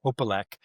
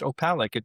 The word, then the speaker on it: Opalek: about my family, because the way I grew up pronounced the name was Opalek. And I learned that it's really pronounced Opalek. It's Eastern European, from what was formerly known as the country of Czechoslovakia.